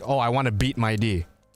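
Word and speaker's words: Mydei: I was mentioning My Day to her, and she said it's actually pronounced My D, which I was just like, what? It's not My Day, it's My D.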